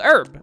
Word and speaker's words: herb: what are they called herb that's it the word is herb hey you go chaos alright think if you're British you say herb you actually pronounce the H I think it's the